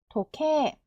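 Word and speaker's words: 時計: 센세 세 센세 그리고 시계도 토케 있데요 에단 뒤에이가 와야 돼요이이 글자가 와야 되니까이 소리 날아가고 케가 두 박입니다 도케 도케 시계는 도케 아버지 5단 뒤에 이거 뭐죠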